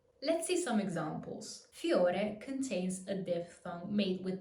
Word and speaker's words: fiore: As you can hear, I'm not pronouncing a full I, but more like a Y. Fiore. Fiore. Not fiore, but fiore. Fiore.